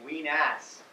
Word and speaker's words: Wenas: time with a straight face to keep saying ween ass all the time because that sounds like something